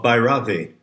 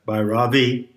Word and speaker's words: Bhairavi: of bahravi i believe the correct pronunciation pronunciation puts the accent on the first syllable so what are the themes what are the lessons what are the moods of bhairavi well rage how about